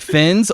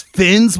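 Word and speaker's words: Finz: and is it just pronounced like Fins, or is it like Fins? Yeah, you gotta hard really Z it. Draw out the Z, and the glasses tilt a little bit when I said.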